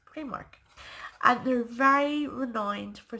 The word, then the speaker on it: Primark: And you'll also hear a lot of the English vloggers and bloggers call it Primark. For some reason, they call it Primark, but the proper pronunciation is Primark.